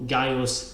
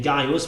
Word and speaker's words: Gaius: beginning so of course the name Gaius was written with the C because that's the owner that they had that's a letter that represented both this curse sound and the good sound and when they introduced